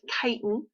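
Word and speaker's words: chitin: material so this word right here this is pronounced kiten and this is a carbohydrate that is really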